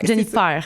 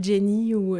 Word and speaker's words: Jennifer: Jennifer, c'est comme ça Ouais, qu'on le c'est vrai que prononce. les gens pensent des fois que je m'appelle Jenny mais non, Ou c'est Jennifer, tu sais, Ouais, il y a Jennifer.